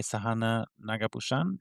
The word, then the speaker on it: Sahana Nagabhushan: I'm super thrilled to be joined by Sahana Nagabhushan. Is that correctly pronounced?